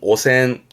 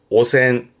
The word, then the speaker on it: 汚染: 발음은 오센, 오센, 오염의 오센이고요.